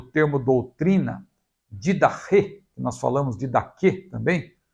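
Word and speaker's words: Διδαχή: No Novo Testamento, o termo doutrina, didache, que nós falamos didache também, né? Uma pronúncia mais próxima do grego seria didache.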